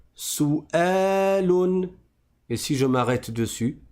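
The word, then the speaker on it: سؤال: Je ne dis pas souun souun sous prétexte qu'il y a un wau parce qu'à partir du moment où je vois la hamza ici, je sais que cette lettre là en entier c'est la lettre hamza et le W en fait ça n'est que le support de la hamza. Donc je dis souun et si je m'arrête dessus je dis souel.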